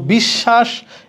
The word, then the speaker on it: বিশ্বাস: কিন্তু বিশ্বাস, এখানে তালব্যস্ব 2টা। কারণ কি? শব্দের মাঝখানে বফলা আছে, যার সাথে আছে ওই বর্ণটা দ্বিত্ব উচ্চারিত হবে।